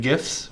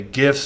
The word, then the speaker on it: GIFs: And so, by the way, GIFs or GIFs, it's a debate for the ages. That's this format. I say GIFs. I think most people say GIFs, but that's not important. The creator of the GIF pronounces it with a soft G.